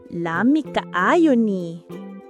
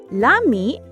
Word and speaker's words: lami: In bisayak, we say Lami great pronunciation. Lami means delicious.